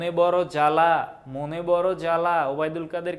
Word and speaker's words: জ্বালা: বলি সবদেশ বলি না তারপরে জ্বালা এটা কিন্তু জাবালা বলি না সাপদ সাবাপদ বলি না ধ্বনি বা হচ্ছে ধবনি বলি না স্বামী সাবামি বলি না তার মানে ব এর